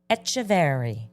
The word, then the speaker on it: Echeverry: I am sitting with the owner of Paper Plane Coffee in Montclair, Echeverry.